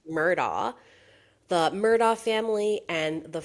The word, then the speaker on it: Murdaugh: pronounced Murdaugh.